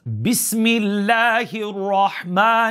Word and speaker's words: Bismillah: our basmallah the phrase Bismillah Rahim is called the basmallah number two I'd like you to start with me by saying bis like Kiss can you say millionaire